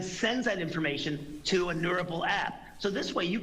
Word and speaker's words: Neurable: Did I pronounce it Neurable? Is that right? Neurable.